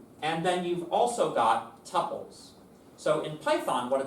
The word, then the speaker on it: tuple: So a row within a table can also be called a tpple. The correct pronunciation is tpple. Anybody who says tuple is wrong.